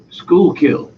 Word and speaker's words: Schuylkill: do you pronounce that because I'm trying to pronounce that about a hundred times Schuylkill Schuylkill that's cool Schuylkill River Valley and is